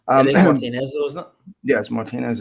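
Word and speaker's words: Martínez: It is Um, Martinez, though, isn't yes, Martinez is the correct pronunciation. Like Martinez.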